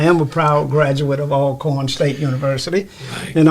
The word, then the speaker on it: Alcorn: a proud graduate of all corn state university and i'm glad you got it pronounced right all corn even though it's got one hell i understand virginians have